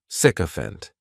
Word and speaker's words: sycophant: The spelling may throw people off to the pronunciation, but that syc is just pronounced sick, sycophant.